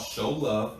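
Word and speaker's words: Cheaux Love: They're called Show Love. It's spelled CHEAUXLOVE.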